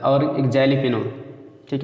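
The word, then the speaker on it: jalapeño: और एक जैलीपिनो, ठीक है, तो जैलीपिनो आप पढ़ेंगे, लेकिन जेली नहीं लिखा जाता, ठीक है, एलिपिनो इसको पढ़ते हैं। जे साइलेंट रहेगा ऐसे पढ़ना शुरू करिए।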